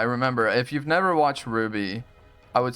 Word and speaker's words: RWBY: Ruby. It's spelled RWBY.